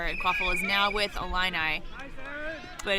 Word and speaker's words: Illini: I thought it was Illini. Illini. I'm going to go with you, Mary. USQ's former executive director, Sarah Woolsey, schooled me on the various pronunciations of teams in Illinois several years ago, and I believe it is Illini.